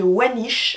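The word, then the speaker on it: Voynich: aller voir elle s'inspire donc du manuscrit de wanish alors ça s'écrit V o y n i C H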